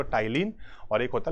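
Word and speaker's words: Ptyalin: होते हैं एक तो टाइलिन और एक होता है लाइसो जाइम है ना टाइलिन और लाइजो जाइम ये आप सोचोगे मैं बोल टाइलिन और आगे पी भी है पी साइलेंट है तो टाइलिन का काम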